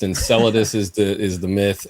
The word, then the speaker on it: Enceladus: a fairy tale but the thing is it's pronounced enceladus is the is the myth and that's a